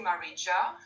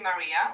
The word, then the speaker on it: Maria: have jane my name but you don't say marija you say maria so that was good what you said regarding